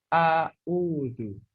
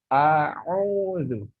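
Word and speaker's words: أعوذ: Banyak di antara mereka yang membacanya adalah A'udhu.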